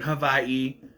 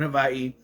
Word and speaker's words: Hawaii: They're in Havaii and yes, I'm gonna say it like that because that's how you're supposed to pronounce it. They're in Havaii and we meet Johnny Tsunami or Johnny Kapahala.